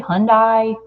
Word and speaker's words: Hyundai: night how do you say that word Hyundai Hyundai okay Hyundai talk about that make you happy